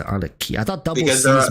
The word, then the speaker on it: Arlecchino: Should be Arlecchino. Oh, should be You say Arlecchino. Arlecchino, like a chino, like it's Italian. It's Italian, right? Oh, Arlecchino. I always say Arlecchino.